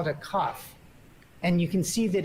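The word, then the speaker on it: כף: BET do you see it's called a cough like if you were going to cough it's called cough yes and it has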